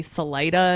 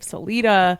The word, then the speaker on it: Salida: They say Salida instead of Celita and Lewisville instead of Louisville.